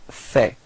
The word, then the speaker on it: fait: So il fait. Same pronunciation, so final T is not pronounced.